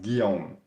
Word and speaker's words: Guillaume: So it's pronounced Guillaume. So it's French for William, and the way I like to explain it to people so they know how to pronounce it is I'm like, all right, ghee, like the extract you get from when you make butter, take that and then combine it with om.